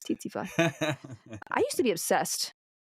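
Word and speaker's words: tsetse: Yeah, it's titly.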